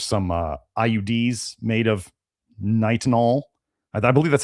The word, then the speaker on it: Nitinol: They al yeah nickel titanium or stainless steel or I forget how the pronunciation was or nitanol nitanol niti t i n o l which is